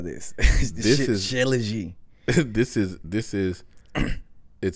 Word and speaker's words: Shilajit: I can let me see if I can find it, and then and I'll also mention another because Shilajit. I don't even know how to spell that.